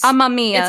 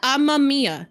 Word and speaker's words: Amamiya: How are you supposed to pronounce it? It's Amamiya. It's Amamiya.